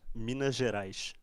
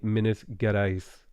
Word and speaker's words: Minas Gerais: pronounce the battleship the minas gerais oh it's minas gerais and i suppose people from gualis would say minus get ice no the g in this case if the g is followed by an